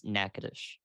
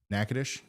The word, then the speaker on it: Natchitoches: can somebody send me the proper pronunciation for Natchitoches Natchitoches yeah right it's nakadish nakadish gotcha thank you all